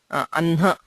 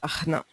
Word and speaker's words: अह्न: Okay, so but the pronunciation here is Anha, okay, and not Ahna.